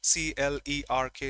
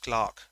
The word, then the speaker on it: clerk: of pronunciation in English c l e r k is pronounced Clark not clerk in Hindi that goes clerk so the Clark one